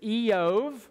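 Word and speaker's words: איוב: The Hebrew pronunciation is Eov.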